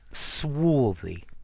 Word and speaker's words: swarthy: hi there students swy swy notice the prononciation swy with that a sound okay this talks about